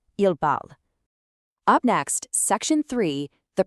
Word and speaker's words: parlent: Even though four out of these six forms use distinct spellings with e, e s, and e n, four out of these six forms sound absolutely identical when spoken out loud. You just say the root word parle. Je parle, tu parles, il parle, ils parlent. It is literally one identical phonetic sound.